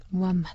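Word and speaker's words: محمد: 코란의 아랍어 발음은 꾸란이 그리고 또 마오메이 아르버 발음은 무하마 무하마네 선교사 계신 이정수 씨 모셨습니다 반갑습니다 안녕하세요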